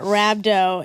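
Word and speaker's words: rhabdo: rabdo am I saying it right Monica yeah rabdo it's it's what people who do CrossFit sometimes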